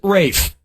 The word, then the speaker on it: Ralph: answer yep Ray finds first name is spelled like Ralph but pronounced Rafe l-e-s-s-f-a-m-o-u-s it's a